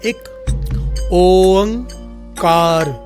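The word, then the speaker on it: Ek Onkar: असल में इसकी प्रोनाउंसिएशन इस प्रकार से है, एक ओंकार। ये तीनों लफ्ज अलग अलग हैं और तीनों के भाव बड़े ही गहरे हैं।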